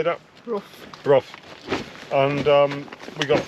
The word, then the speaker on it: Brough: Brough.